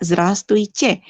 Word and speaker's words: Здравствуйте: Kayak Здравствуйте. Huruf V-nya nggak dibaca.